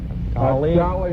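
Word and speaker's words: Dalí: For 10 points a piece, identify the contemporary Spanish-born painter whose last name rhymes with a major Indonesian island. Valley and Bali.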